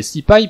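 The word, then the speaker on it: SciPy: plus précisément 6 pi que l'on peut prononcer si pie pour faire savant voici quelques fonctions disponibles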